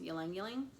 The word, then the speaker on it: ylang ylang: Green notes, young, I believe it's pronounced ylang ylang.